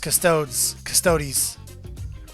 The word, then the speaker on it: Custodes: Just working on them Adeptus Custodes.